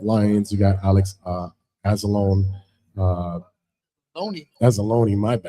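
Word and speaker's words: Anzalone: Azzalone, my bad.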